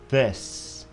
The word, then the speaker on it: this: This, this, this. Nó không phải là chữ đờ của tiếng Việt Nam các bạn nhé. Nhiều bạn đọc là this, that, không phải.